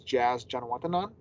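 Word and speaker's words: Jazz Janewattananond: I mean, we work on a lot of pronunciations overall, but I know I nailed this one, and it's Jazz Janawatanan.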